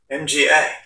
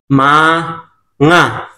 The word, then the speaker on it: mga: O sabihin bigkasin mo itong salita kong 'to sa spell spell ko siya tapos bigkasin mo sa tagalog mga M a N a MGI MGI Tama ba?